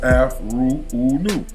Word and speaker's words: Afroooonoo: Pronounced Afruun.